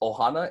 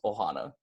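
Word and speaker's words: ʻohana: start of the word so it's gonna be pronounced Ohana instead of just oh ha no I know it's kind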